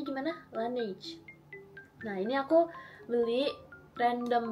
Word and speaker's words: Laneige: Lanage bacanya gimana? Lanage.